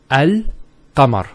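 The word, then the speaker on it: القمر: let's first also alkmaar how do you pronounce this it's el kamar so el kamar service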